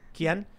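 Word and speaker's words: quién: Quien?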